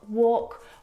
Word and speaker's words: walk: not half would talk walk all of these words have a silent l in them which makes them a